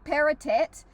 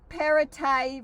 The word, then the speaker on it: Perrottet: I kept saying Dominic Perrottet, but that's not right apparently. It rhymes with Chardonnay. Dom Perrottet rhymes with Chardonnay.